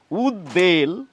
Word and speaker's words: উদ্বেল: কিন্তু তা একেবারেই নয় ব ফলা থাকলেও এই শব্দগুলির উচ্চারণে ব এর উচ্চারণ রক্ষিত হবে দীপ্ত হবে না আমাদের এই শব্দগুলি বলা উচিত উদ্বাই উদ্বিগ্ন উদ্বেগ উদ্বেল উদ্বোধন অর্থাৎ এই উদ